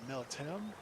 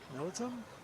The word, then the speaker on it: militum: Become a magister militum? Ah, that was not the right way to say that word. Militum. Militum?